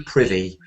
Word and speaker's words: privy: ivy, privy. Yeah, you're quite right. It's pronounced like privy, yeah. Ivy, privy.